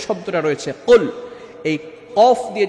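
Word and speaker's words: قُلْ: এখন কোনো ব্যক্তি যদি কুল শব্দটার এখানে কফটাকে ভালো করে উচ্চারণ না করে শুধু কাফ দিয়ে পড়ে কুল, কুল এর অর্থ হবে খান। অর্থাৎ আমরা যখন কাফ দিয়ে পড়ব, তখন অর্থ চেঞ্জ হয়ে যাবে।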